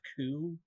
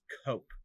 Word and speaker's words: coup: poke fun at you you pronounced coo as coke earlier and that is unacceptable